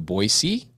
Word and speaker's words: Boise: Well, actually, no, she says Boise because she knows that Boise is the right way to say it. I'm from Idaho. Boise, not Boise. No Z.